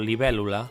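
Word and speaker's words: libèl·lula: Therefore, we can just put an accent mark on the stressed syllable. Or "libel·lula": "li-bel*-lu-la".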